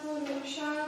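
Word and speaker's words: पुरुषः: But when it falls in the middle of the sentence, like Purushaha, they generally don't do it, Purusha, although you will see some people do that.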